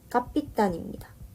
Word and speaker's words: 꺼삐딴: 자, 두 번째로는 캡틴은 영어죠. 그 다음에 이거를 러시아식으로 읽으면 까삐딴입니다. 그 다음에 이거를 일본말식으로 발음을 하면 껍빛단이 되는 거죠. 결국 이 껍빛단리라는 말에는 영어, 러시아식, 일본이 다 포함이 되어 있는 겁니다.